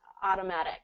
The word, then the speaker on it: automatic: so I'm gonna say so instead of O we're gonna do a a a just like hot hot hot ah ah hot autom automatic hot Automatic Auto and